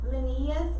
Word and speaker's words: Linnaeus: So Carlos Linnaeus is how you say them.